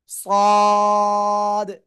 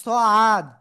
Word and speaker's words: صاد: সদ। অনেকে বলেন সআদ, না, সদ, সদ, সদ, ঠিক আছে, সদ, চার লিপ টান।